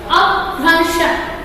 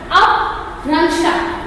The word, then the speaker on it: अपभ्रंश: Aprancha क्या है, इसका उच्चारण कैसे करोगे? अपभ्रंश, अपभ्रंश, जिसको हम लोग बोलेंगे जो ये आदि भाषा